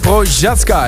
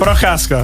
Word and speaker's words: Procházka: Welcome to Jiří Procházka. Is that the way to pronounce it? Procházka.